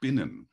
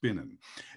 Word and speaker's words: spinnen: cool word, it's called spinnen. So you have to pronounce it a little bit Yiddish, like schmuck.